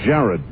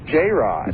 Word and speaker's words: J-Rod: producing internally all right now Jared whoever Jared is uh that's pronounced j-rod J Rod I'm sorry it's first